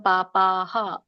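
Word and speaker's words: ಪಾಪಃ: ವಿಸರ್ಗ ಇದೆ ಅಂತ ಗೊತ್ತಾಗಬೇಕು ತ್ವಗಂ ಪಾಪಹ ಪ ಇರೋದ್ರಿಂದ ಪಕ್ಕೆ ಅ ಕೂಡ ಇರೋದ್ರಿಂದ ಹ ಕೂಡ ಅದು ವಿಸರ್ಗ ಕೂಡ ಹ ಆಗಿ ಉಚ್ಚಾರಣೆ ಆಗುತ್ತೆ ಹ ಕೆ ಅ ಬರುತ್ತೆ ಪ ಕೆ ಅ ಇದ್ದ ಹಾಗೆ ಹ ಕ್ಕೆ ಅ ಬರುತ್ತೆ ಪಾಪಹ ಪಾಪಹಂತಿ ಪಾಪಹ ಪಚಂತಿ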